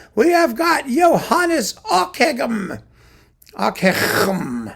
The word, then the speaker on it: Ockeghem: Ockeghem, however you want to pronounce it. Ockeghem. There he is. You can spell it and say it however you like. Ockeghem, Ockeghem. It's like clearing your throat.